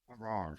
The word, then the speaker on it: Haarer: know it's not too hard I just um I just say har like par easy for golf guys memorize I think that way so yeah so just har just har All right